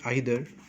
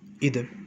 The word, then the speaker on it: either: stop begin with either some even say either right and some say either both of the pronunciations are right okay so we can